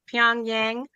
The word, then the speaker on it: Pyongyang: How do you pronounce that? Pyongyang is the Yeah, first that's right.